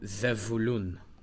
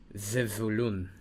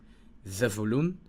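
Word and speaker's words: זבולון: So, Zevulun. Zevulun. Sometimes people pronounce the Shoah here hard, like ze. Sometimes it's you pronounce it together like Zevulun. It's very quick. Zevulun or Zevulun.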